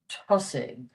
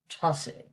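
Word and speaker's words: tosaigh: And SH, like the TH, is pronounced just with an H. To give you an example for TH, the word in Irish for start is tussig, tussig.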